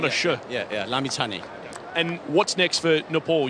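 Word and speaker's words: Lamichhane: Can you tell us in Nepal what is the correct pronunciation of his last name? It's Sandeep Lamichani. Lamichane, so Lamichane. It's a ch, not yeah, a sh. Yeah, yeah, Lamichane.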